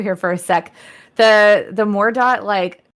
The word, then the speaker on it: Mordaut: But she quickly figures out that he's something called a mordot or a mordeau if it's French. I don't know how it's pronounced, but it's like Mordaut. Or dot And is how old Tim Curry pronounced it.